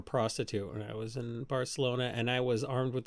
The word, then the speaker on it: Barcelona: guess we'll order the Rings in Barcelona it's pronounced Barcelona also do you know how much a round-trip